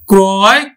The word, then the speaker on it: ক্রয়: তবে শিক্ষার্থী বন্ধু, এই আদ্য রফলাযুক্ত অ এর পরে যদি অন্তস্থ অ থাকে তাহলে কিন্তু আবার অটা অ এর মতোই উচ্চারিত হবে। যেমন দেখো এখানে ক্রয়, এই যে রফলাযুক্ত অ এর সাথে পরে কি আছে? অন্তস্থ অ আছে, তাহলে কিন্তু আমার উচ্চারণ কিন্তু ক্রয়, ক্রয়ে উচ্চারিত হবে।